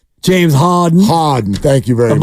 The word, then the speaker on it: Harden: can't believe you said it wrong James Harden Harden thank you very much I'm under pressure here